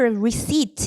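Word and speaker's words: receipt: 제목이 우선 만지지 마라 너 페이퍼 리시트 이거 피 발음 안 하지 페이퍼리지 종이 영수증을 만지지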